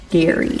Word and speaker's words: Gerry: There's this guy, his name is Elbridge Gary, but it's spelled G E R R Y, but it's it said Gary.